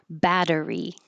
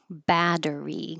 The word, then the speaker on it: battery: Battery. Battery. The t's change to d's.